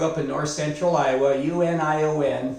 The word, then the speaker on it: Union: in north central Iowa uni o n pronounced Union and of course if you're listening this in Spanish you'll say Moo neon but I didn't have